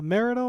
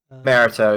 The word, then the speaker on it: mariteaux: show how's it going is it a marital or how should i pronounce your name marito yeah you've got it correct roughly okay i've heard it pronounced a ton of different ways all right so see for me it's it rolls off as a marital i could try merito yeah it's it's up